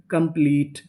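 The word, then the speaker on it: complete: मैं आपको बता दूं कि अगर आपको इंग्लिश की किसी भी मीनिंग के आखिरी में इ लिखा मिले तो हम लोग इ का उच्चारण नहीं करते।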